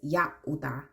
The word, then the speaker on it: Yahudah: As many people know as Judah, but it's Yahudah.